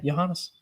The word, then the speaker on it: Johannes: Yeah, Johannes. Like Johan.